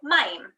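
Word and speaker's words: מים: Maim.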